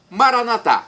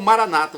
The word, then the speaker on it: Maranata: Maranatá, como dizemos nós católicos, com a tônica na última sílaba. Ou Maranata, como dizem nossos irmãos separados, os evangélicos ou protestantes, com a tônica na penúltima sílaba.